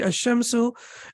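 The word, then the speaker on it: الشمس: correct pronunciation will be a shimsu and here the lime is pronounced and the correct pronunciation will be al-kamaru um and then we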